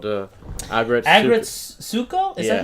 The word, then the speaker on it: Aggretsuko: We started watching that new Sanrio Netflix series called Aggretsuko.